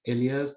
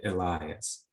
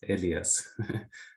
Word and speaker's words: Elyas: and yeah, my first name is Elyas that many Americans call me Elias. I don't know why, maybe there are some pronunciation problems that they have, but actually when I hear Elias, then I immediately correct them that it's Elyas not Elias.